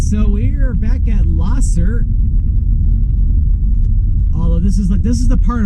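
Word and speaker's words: Lahser: It's hard to say, but it's pronounced Losser Road, not Losser.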